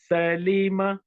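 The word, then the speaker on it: سَلِمَ: Next word, Salima. Salima. So 3 short vowels. Sa, li, ma. If someone says Salima, that's wrong.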